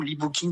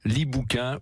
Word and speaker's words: libookin: Et in, parce que en fait, si vous prononcez à la française, ça fait le gentil bouquin, les bouquins qu'on aime bien. L'e-bookin ou l'e-bookin, comme vous voulez.